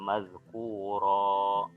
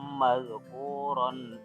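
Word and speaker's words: مذكورا: Kita lihat ya, situ aslinya madhkuron, tapi karena berhenti maka dibacanya mad iwad jadi mazkuro. Tapi kalau dilanjutkan tidak diwaqaf maka tanwinnya kembali lagi.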